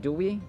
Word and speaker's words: Dewey: Do you know George Doy By the way it's Doy not dewi for American pronunciation do we do you